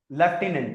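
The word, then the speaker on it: lieutenant: है उसमें इट्स नॉट हम ज्यादातर इसको पढ़ देते हैं लेफ्टिनेंट आई एम श्योर आपने ऐसे ही सुना होगा लेफ्टिनेंट बट दिस वर्ड दो तरीके से प्रोनाउंस किया जाता है और हम स्ट्रेस अक्सर गलत जगह पे देते ये पढ़ा जाता है या तो लेफ्टिनेंट लेफ्टिनेंट नाउ ये बोला जाता है लेफ्टनेंट या फिर अमेरिकन इंग्लिश में इसे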